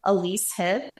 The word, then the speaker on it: Elyse Heob: It's my name, Elyse Heob, and I'm going to spell it for you because people get it wrong, and I expect that.